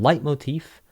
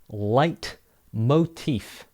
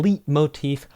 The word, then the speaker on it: leitmotif: we're going to look at the difference between light motif theme and motif let's get started just a